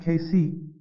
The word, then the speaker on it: Cayce: man was Edgar Casey Casey pronounced casy was in the last